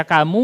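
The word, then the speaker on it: كم: Nggak bisa dibaca kamu, kami, kama, tapi tetap dibacanya kam, artinya berapa.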